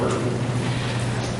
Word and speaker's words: Oregon: And I learned that I pronounced because I'm going to the Midwest and pronounce it. Not Oregon, it's Oregon.